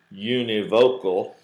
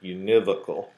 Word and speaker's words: univocal: to hearing it and if you read it you probably read univocal but we usually pronounce it univocal so to say that